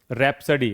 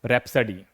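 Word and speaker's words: rhapsody: अब देखिए जब शब्द के प्रारंभ में आरएच आता है तो एच का उच्चारण नहीं किया जाता। देखिए अगर कोई शब्द है उसके शुरुआत में अगर आर एच हो तो फिर एच का उच्चारण नहीं किया जाता। जैसे रैप्सडी देखिए यहां पर अगर आप एच को हटा भी दोगे तो क्या पढ़ेंगे हम? रैप्सडी।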